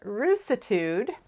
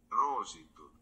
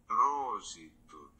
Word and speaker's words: Roositud: But it uses a technique called, I was pronouncing it Roositud, because I'm American and I was using American phonics.